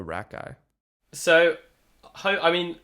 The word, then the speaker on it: Rakei: Jordan Rakei. Gotcha. How do you spell Rakei? So, I mean, there's different ways of pronouncing Rakei. Okay. But I've always gone Rakei. But it's R-A-K, and then it's E-I.